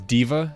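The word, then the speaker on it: D.Va: Diva is how you say diva.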